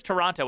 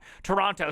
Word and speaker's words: Toronto: but it's a lot Toronto stop with the T Toronto no sorry uh